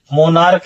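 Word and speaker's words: monarch: मोनार्क है। आप देखिए प्रोनाउंसिएशन पढ़ रहे हैं तो चा किस में जा रहा है? का में। तो अब जैसे ही का में जा रहा है तो मोनार्क्स हो गया।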